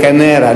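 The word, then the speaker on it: Kaneira: He says, K-A-N-E-I-R-A, Canera, not C-A-N-E-R-A, Canera.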